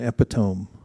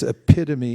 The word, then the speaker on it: epitome: one little correction, there is no such thing as an epitome. It's epitome. Mm-hmm. It's just that not everyone, many people mispronounce it because of the way it looks. You know that word? No. It's epitome.